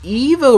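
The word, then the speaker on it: Ivo: for all these years now so I've always pronounced it Dr IO Robotnik but actually it's supposed to be pronounced Dr Evo Robotnik if you don't believe me here's the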